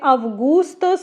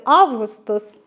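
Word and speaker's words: Augustus: Це неймовірно популярний Августос, але мені писали коментар, що правильно вимовляти Августус, але я грецькою не знаю, як і французькою.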